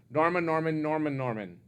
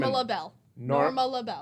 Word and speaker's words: Norma LaBelle: Charlotte Taylor, who played, I always say the name wrong, Norman. Nope. Norman. Norma LaBelle.